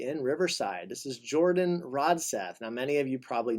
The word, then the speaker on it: Rodseth: So glad to be here today with Jordan Rodseth. Did I pronounce that correctly?